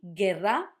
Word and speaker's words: guerra: We'll do the G-U-E, G-U-I, so ge, gi, like this. The words that I'm going to use are going to be guerra, not guerra. Also, notice the double R because it's between two vowels. Guerra and guitarra. Guerra, guitarra, not guerra, not guitarra. Guerra, guitarra, because it's got the U.